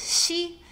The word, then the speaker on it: ㄒ: And we finished the palatal initials with she as in she went to the restroom.